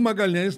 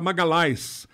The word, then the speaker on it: Magalhães: Sidney de Magalhães eo Magalhães na Itália não é pronunciado LH não existe então era Magali a Magali esmagá-las não